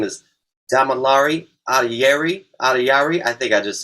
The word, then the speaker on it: Adeyeri: Adeyeri.